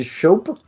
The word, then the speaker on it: Schoepe: new CEO uh shop is that how you pronounce your name that is actually how you pronounce it like soap Just sh okay and